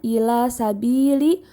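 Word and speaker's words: إِلَىٰ سَبِيلِ: Selanjutnya, ila sabili, hukum tajwidnya adalah mad tabi'i karena terdapat huruf ba berharokat kasroh bertemu ya sukun sehingga membacanya panjang 2 harokat.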